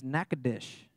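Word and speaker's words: Natchitoches: it that's in Louisiana the way you actually pronounce it apparently is knackadish is that right do you guys all know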